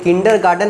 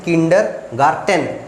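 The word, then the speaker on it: Kindergarten: अच्छा से बोलते नहीं, हम लोग किंडर गार्डन बोलते हैं, लेकिन किंडर गार्डन नहीं होता, वो होता है किंडर गार्टन, टेन, ठीक है।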